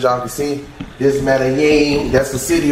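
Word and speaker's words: Medellín: Medellin. Yeah, I'll throw this in there. Medellin. Medellin. Medellin. For those of you that don't know how to say it, that's the proper way of saying it.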